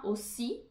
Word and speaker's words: aussi: E a expressão moi aussi se escreve com OI, então esse OI tem som de UA, moi. E o AU de aussi tem som de O.